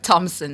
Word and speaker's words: Thompson: It's Kimon Thompson, not Kimon Thomas. Yeah, and please don't say Thompson, okay? Please do not don't say Thompson and Thomas. Yes, or assessor thumbs. Or assessor thumbs. H is silent.